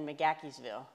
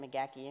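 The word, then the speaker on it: McGaheysville: up in rockingham county mcgackeysville yeah and that's just it's the it's the megaki family and that's just that's that uh scotch irish accent that's how they said at mcgaki if you go to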